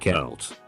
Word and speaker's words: Celt: a scientist lab coat people think celt is pronounced salt but it's pronounced celt wait people actually think it's pronounced salt that